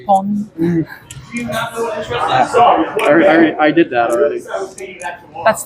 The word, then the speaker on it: pon: because it sounded like pun instead of pon.